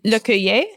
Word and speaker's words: Lecuyer: Lecuyer.